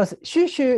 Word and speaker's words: Xu Xu: kong in the 1960s so shushu is sometimes also referred to as xiu that was actually the pronunciation of his name that he himself preferred but because there are